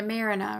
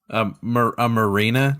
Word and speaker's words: marina: Yeah, Stan's Shrimp Shack and Like a Marina or something. A marina, do you mean? Marinara? Yes, that is what I meant. A marina. Which is how it's pronounced. Definitely not Marina.